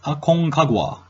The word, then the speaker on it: Aconcagua: highest point Argentina is Aconcagua aconcagua depending on the Spanish language pronunciation I believe highest location in Aruba